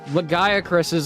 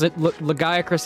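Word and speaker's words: Lagiacrus: Hey, things are said differently, but like Capcom legitimately confirmed legaces. Legacris is the pronunciation, not legac.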